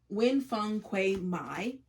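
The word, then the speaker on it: Nguyễn Phan Quế Mai: And it is Dust Child by, I always get this author's name wrong. It is Nguyen Phuong Quay Mai.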